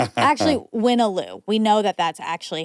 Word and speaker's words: Wyna: I'm on the PR team at the New York Times and work closely with Waloo, the creator of Connections. Actually, Winnoo.